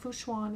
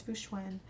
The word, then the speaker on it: Fu Xuan: definitely be pulling for Foo schwen now we know how to say her name it's not fooshwan it's fuschwan um definitely pulling for her